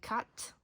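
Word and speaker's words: quatre: So TW and cat don't pronounce the E.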